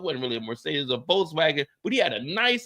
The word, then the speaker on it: Volkswagen: Oh, that Volkswagen was a beautiful. But if you want to say it like you over here in Germany, it's Volkswagen because there ain't no W's, it's all V's over here. Volkswagen.